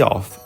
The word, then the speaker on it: Å: perfect our tour of Å starts here One thing we learned is - That this town is pronounced “O” - Not “A” She said “O” Success